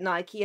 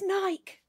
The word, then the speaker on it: Nike: with an N how do you pronounce it Nike thank you I pronounce it Nike and every time I say it my kids go it's Nike it's not Mike I'm gonna tell them yeah